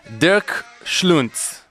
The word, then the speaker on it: Dirk Schluenz: Dirk Schluenz. Was that okay? Perfect. Perfectly pronounced. You said like Dirk Nowitzki and Schluenz.